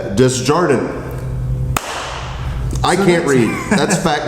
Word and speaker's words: Desjardins: I think the S is silent. Desjardins.